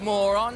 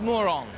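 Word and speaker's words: Morón: But it's not pronounced moron, all right? It's moron.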